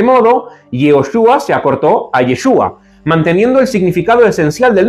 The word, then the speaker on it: Yeshu: Se sabe que los galileos no diferenciaban entre los sonidos de la letra Ain y Aleph, lo que podría haber llevado a que el nombre de Jesús en su entorno familiar y social se pronunciara Yeshu. Esta forma abreviada es más simple y refleja la pronunciación natural en la región de Galilea, donde Jesús creció y desarrolló su ministerio.